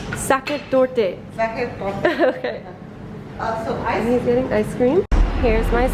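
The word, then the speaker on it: Sachertorte: me to order and it's pronounced socket socket door did I scream here's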